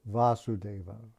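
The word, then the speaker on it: Vāsudeva: hearing the messages of vasudeva long a that's krishna vasudeva this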